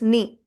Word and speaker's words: nid: Consonant is not pronounced at the end. So it is nid.